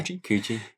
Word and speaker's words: Kuji: Is it Kuji? Is that how you pronounce it? Yeah, Kuji. We also had the one we're going to play, yeah.